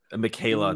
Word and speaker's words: Michaela: Man, I'm not gonna be able to pronounce that first name. Michaela, that's how you say it.